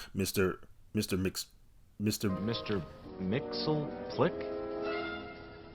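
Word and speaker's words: Mxyzptlk: Mr mix Mr Mr Mixel Plick no repeat after me bright boy it's mixed yes SP lick I ain't pronouncing that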